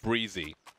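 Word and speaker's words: Brehze: Then you come and call yourself Brezzy and say, "I want to be called Breezy."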